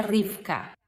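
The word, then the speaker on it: רִבְקָה: Rebeca se pronuncia rifka y es uno de los nombres cuyo significado no conocemos con certeza, pero creemos que viene de la misma palabra que atar.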